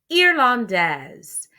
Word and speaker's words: irlandaise: Elle est irlandaise. And you notice I have the z sound at the end because I have la lettre E.